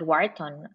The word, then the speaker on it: Wharton: You pronounce? I studied at Wharton.